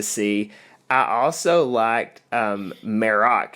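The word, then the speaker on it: Marrok: I also liked um maroc is how we say his name I believe so we were we were butchering it with our Southern Accents the last couple weeks but maroc he's got a cool voice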